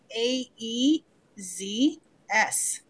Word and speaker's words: AEZS: well so why don't we first start with a e-z s I'm actually pronouncing it properly for Jim today because that's